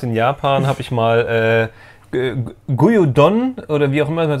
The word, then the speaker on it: Gyudon: Gyudon wird's ausgesprochen.